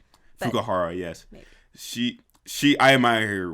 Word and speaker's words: Fukuhara: But yeah, no, Karen Fukaria, is that say her name right? I think it's Fukuhara. Fukuhara, yes.